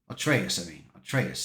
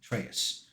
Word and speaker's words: Atreus: Atreus, that's what it was. That's why I had to pronounce it. Atreus.